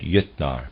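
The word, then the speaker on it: Jötnar: Readers aside, Jotnar is spelled J-O umlaut, T-N-A-R, and I'm pronouncing that Jotnar, probably is more accurate, end of readers aside.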